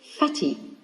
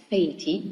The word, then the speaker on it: fatty: So if I do not double the consonant, I would pronounce fatty, which is incorrect. That's why I need to double the T here to pronounce fatty.